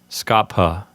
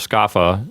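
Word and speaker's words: scapha: word skaffa technically speaking in classical pronunciation you're supposed to pronounce the P here as a hard P so this word is supposed to sound like Scapa however I never got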